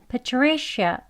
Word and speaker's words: Patricia: 그렇게 발음을 하셔야 합니다 그냥 처음부터 파리시 샤 아 소리로 하시면 안 돼요 아 아 하면서 힘을